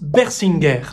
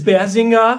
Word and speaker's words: Bersinger: On prononce Bersinger. Voilà, s'il vous plaît. Je suis pas très fan des variations, même si toutes sont pas archi dérangeantes. Les Français disent Bersinger. Ouais. Les Allemands disent Bersinga.